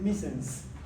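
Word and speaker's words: missense: Se escribe misse, pero se lee misens.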